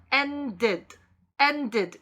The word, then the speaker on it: ended: 그래서 and 같은 경우는 ed가 더해지면 ended 이렇게 발음해요. 더해지는 ed가 id 이렇게 발음됩니다.